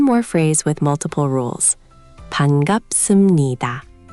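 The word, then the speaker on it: 반갑습니다: Bangapseumnida.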